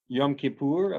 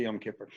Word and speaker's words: Yom Kippur: How should I, what's the proper pronunciation? Yom Kippur, but I say Yom Kippur.